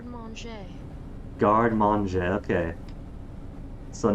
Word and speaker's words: garde manger: How is this a 1-minute video for how to say garde manger? Garde manger.